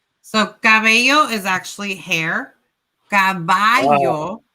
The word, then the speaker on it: caballo: How do we pronounce hair? Hair is cabello. Cabello. hmm Mhm. And horse would be what? Caballo.